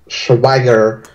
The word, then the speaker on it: Schwager: I think the pronunciation is Schwager. Oh, Schwager, yes.